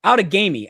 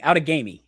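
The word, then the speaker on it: Outagamie: but this is like you know outagami out of gamy out of gamy it's how pronounced out and hong hong is ahead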